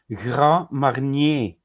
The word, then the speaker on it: Grand Marnier: Grand Marnier. Yeah, there you Grand, go. that is the French. How you pronounce it?